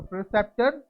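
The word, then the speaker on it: preceptor: अब देखो प्रीसेप्टर। क्या? प्रीसेप्टर, बट इसको आप बोलोगे करेक्ट प्रोनाउंसिएशन में प्रेसेप्टर। क्या? प्रेसेप्टर।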